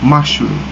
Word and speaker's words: mushroom: In a word mushroom, the first syllable is also being stressed. It's called mushroom.